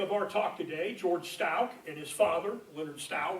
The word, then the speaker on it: Stouch: about that here is an 1850 map that says L Stout so there they're pronouncing it stout and this is the